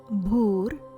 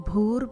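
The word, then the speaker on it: भूर्: Om Bhur Bhuva Swaha. Om Bhur Bhuva Swaha. Please note, letter B followed with H in Sanskrit sounds like bha sound, as in bhakti.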